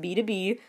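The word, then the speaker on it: BTOB: Then there's B2B, which for years I thought was B-T-O-B, but no, it's pronounced B2B.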